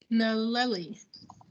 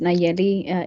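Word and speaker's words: Nallely: I see one word, Naleli, or is that an abbreviation? I apologize if I did not pronounce that correctly. Oh, no worry. Yeah, double L is pronounced as a Y. And my name's Nayeli.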